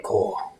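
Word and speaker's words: Korr: Um, you'll hear this guy say, "Uh, why Shiaan Core, we need to leave now." And Core is spelled K O R R.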